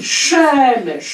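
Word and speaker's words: שמש: Le mot soleil se dit shemesh en hébreu, avec l'accent tonique sur la bande derrière, et shams, parce que là aussi, sont interchangeables en arabe, se et che.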